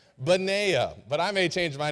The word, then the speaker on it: Benaiah: Now some may say Benaiah, Benaniah. Max is already smiling at me. I said, look, I did my research. And I think you pronounce his name Benaiah.